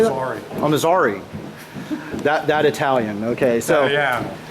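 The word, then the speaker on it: Armizare: Armazari.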